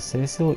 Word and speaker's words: Cecil: The main character, Seshiro, or Cecil, in Japanese it's Seshiro. Maybe you can pronounce that. Cecil or Cecil is more for me. So I will call him Cecil.